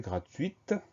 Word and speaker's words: gratuite: Au féminin, on va ajouter le E du féminin, donc cette fois-ci, on va entendre le T final. On va prononcer gratuite.